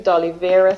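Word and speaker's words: Doliveira: us okay so you can contact me through dolya Ceramics and dolya is spelled D o l i v e i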